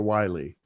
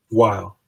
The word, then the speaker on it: Weil: Is it Weil or Wiley? Weil.